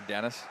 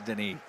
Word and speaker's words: Denis: Notice how it's never Dennis. No. It's Denis. Denis. I mean, right? You got to put the inflection in the proper syllable.